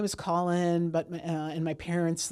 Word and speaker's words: Colin: "Well, my name is Colin, but uh, and my parents like wanted to spell it, you know, this unusual way because they're afraid people pronounce it as colon."